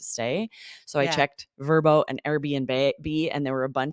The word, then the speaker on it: Vrbo: place to stay through Verbo, used to be VRBO, but they're rebranding and calling themselves Verbo, or Airbnb is a cinch, right?